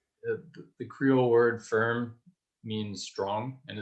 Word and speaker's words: Firme: So the organization is called Firm Foundation, and it's spelled the Creole word "firm" means strong, and it's spelled FIRME. One might pronounce it firme here, but it's pronounced firm.